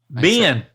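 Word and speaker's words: been: How do you pronounce the word B-E-E-N? Ben. Yep. With the vowel in sit, see, or set. See, bean, set, with the vowel in set, ben.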